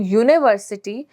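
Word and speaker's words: university: sound दे रहा है और अगर मैं बोलूं यूनिवर्सिटी तो यहां पर हमें जो यू है वो हिंदी वाले य की साउंड दे रहा है ठीक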